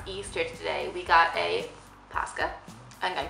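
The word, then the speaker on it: Paska: it is orthodox easter today we got a pasca and i'm saying it correctly which is the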